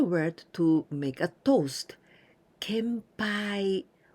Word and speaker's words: 献杯: to make a toast kempai also n Sound Ken Ken n and Pie can pie Kampai kempai this pie